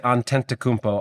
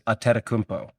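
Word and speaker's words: Antetokounmpo: Now, some people say antentampo. I believe the correct pronunciation is atmpo.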